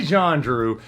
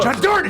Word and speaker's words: Jandreau: Jandreau. That's how you say it. John Jordan! Get closer every time. Get closer every time. Not right there. Forget everything you know. It's Jandreau.